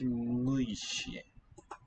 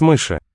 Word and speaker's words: мыши: У вас есть мыши. У вас есть мыши? Мыши. Lowering of the final vowel there.